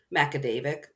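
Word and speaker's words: Magaguadavic: there's one where it's spelled kind of like with a bunch of G's, like maguadic, and they're like, how is it pronounced? Macadavic.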